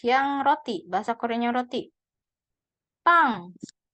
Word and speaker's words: 빵: Pang. Karena yang bulat kalau di bawah dibacanya eng ya. Pang.